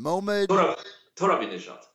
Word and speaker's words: Mohammad Torabinejad: Mohammad Torabinejad.